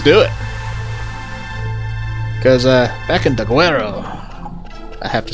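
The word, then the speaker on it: Daguerreo: Because, back in Daguerro, I have to say it like that, Daguerro.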